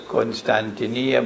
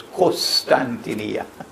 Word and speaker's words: Constantinople: goes on to say i pronounce it as constantinia but in arabic they pronounce it as costantinia course not good constantinia is closer to the original but in arabic they say why would the conquest